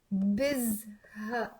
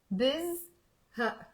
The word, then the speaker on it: بزهق: By the way, when I said it slowly here, biz, and I paused, it means abu. Okay? So say it faster. Don't say it too slow. Okay? So bizha, and there's a in the end. I'm not saying bizha. It's bizha.